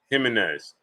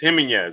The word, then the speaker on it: Jimenez: It's Jimenez? Jimenez? Oh, okay. Jimenez. Okay. Pardon me, great brother. I've been saying your name wrong all this time.